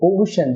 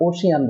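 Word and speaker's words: ocean: এই ওয়ার্ডটির উচ্চারণ হবে ওশেন, যেটাকে আমরা ওশিয়ান বলে থাকি।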